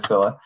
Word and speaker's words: Scylla: is the technical urcilla the pronunciation uh i believe is scilla um he's the technical